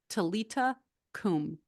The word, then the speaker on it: Talitha koum: If you want to write it down, it looks like Talitha. It's Talitha Koum, 2 words, but it's pronounced Talita Kum.